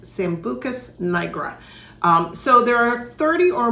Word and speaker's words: Sambucus nigra: And the European version name, I believe, is pronounced Sambucus nigra.